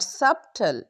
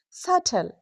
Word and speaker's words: subtle: T debt not dep u B T not subtle it's subtle L M lamb B O M Bomb C L I M B climb last M pronounce.